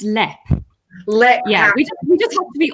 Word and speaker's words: Leap: of the castle, and we mispronounce it as Leap, but it's pronounced. Yeah, it's actually pronounced Lep.